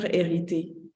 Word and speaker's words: Hériter: that's a phrase future erity makes sense it's it's inherited future like word for word ah I love it it's like you don't pronounce the h it's like the same